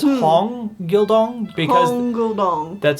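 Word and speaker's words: Hong Gil-dong: Yeah, they said it was Hong. Hong Gil Dong, it was a long O.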